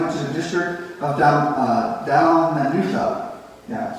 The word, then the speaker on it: Dalmanutha: to the district of Dalmanutha. Yeah, sometimes even the pastor gets confused by how you pronounce some of those wild words, right? But it's Dalmanutha.